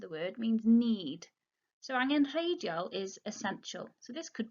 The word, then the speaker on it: angenrheidiol: Notice the G there, the third letter, the G. You wouldn't pronounce that too harshly. You don't say angenrheidiol. Angenrheidiol. Make it a softer G. Join it with the N there.